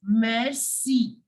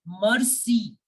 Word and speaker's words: merci: Okay, so we say thank you in French as merci. Merci. Many people I have seen that they are pronouncing this word like mercy.